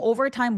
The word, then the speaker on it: overtime: Over time overtime 발음하실 때 근데 제가 들어보니까 over working over time 이렇게 공평하게 발음하신 분들이 많았었거든요. working over time 아니고 working over time. Working over time 이렇게 리듬을 맞춰 주시는게 좋다. Over time 그리고 over우까지 느껴지게 over 해 주시는게 좋아요.